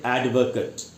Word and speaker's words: advocate: में यूज करेंगे तब इसको पढ़ना चाहिए एडवोकट एडवोकट एडवोकेट और वकालत करना वर्ब के रूप में क्रिया के रूप में जब आप इसका इस्तेमाल करेंगे तब इसका उच्चारण हो जाएगा एडवोकेट तो नाउन के रूप में है एडवोकेट वर्ब के रूप में है एडवोकेट अच्छा हम जो बोलते हैं हम लोग हम लोग इंडियन है हम लोग बोलते हैं एडवोकेट वो एकदम गलत उच्चारण है आप जानते हैं मैं